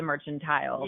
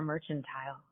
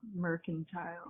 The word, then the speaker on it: Mercantile: else moves into the mercantile. Yeah. Is it mercantile or merchantile? Mercantile. It's mercantile.